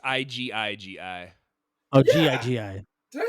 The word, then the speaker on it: Igigi: it's IGIGI.